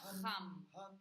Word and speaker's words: ham: Para los del quinto chakra, solo recordar que en sánscrito la letra H es una J, es decir, el am escrito que estaba, deberéis pronunciar ham.